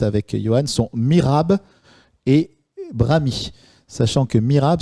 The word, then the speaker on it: brahmi: a 5 minutes avec Johan sont Mirab et Brami. Sachant que Mirab s'écrit M-I-H-R-A-B.